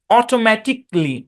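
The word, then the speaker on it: automatically: লজিক্যালি না, লজিকলি, প্র্যাকটিক্যালি, specifically, অটোমেটিকলি। বুঝছেন? এটা সাইলেন্ট, এবং উচ্চারণটা সিতে গিয়ে থামবে।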